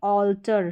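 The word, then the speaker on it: alter: Next यहाँ पर देखिए ऑल्टर, शुरू में है ए लेकिन ए के बाद में एल आ रहा है, तो यहाँ पर ए या ए इसका उच्चारण नहीं हो रहा है, यहाँ पर हो रहा है ओ।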